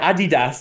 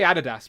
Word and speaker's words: Adidas: Adidas, as the Americans say. Adidas. Yeah, we say Adidas, but they say Adidas, I think.